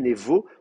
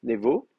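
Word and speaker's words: נְבוֹ: C'est pour ça qu'on dit névo, le bête, on le prononce V, névo.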